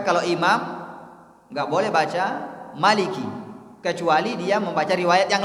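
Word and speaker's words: مالك: Maka kalau imam nggak boleh baca Maliki kecuali dia membaca riwayat yang lain. Tapi kalau yang dia baca adalah riwayatnya Hafiz Imam Asim, harus panjang bacanya, Maliki Yaumiddin.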